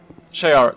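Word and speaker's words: Sha'ira: Shaira, that's... It's spelled differently, but that's like Hawk Girl's name.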